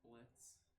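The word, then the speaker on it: Blitzø: And so, even you got the fantastic Blitzo. Oh wait, it's Blitz. The O is silent.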